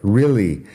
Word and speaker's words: really: Really, lo digo así, personalmente. Really, como si fuera una I al principio, pero realmente es EA. Realmente.